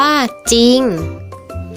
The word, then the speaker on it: จริง: สร้อย ให้ อ่าน ว่า สร้อย จริง อ่าน ว่า จริง เศร้า อ่าน ว่า เศร้า ซึ่ง คำ เหล่า นี้